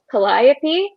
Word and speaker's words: Calliope: made sense but the audiobook um sort of pronounces calliope's name as calliope and my mind was like yeah but sarah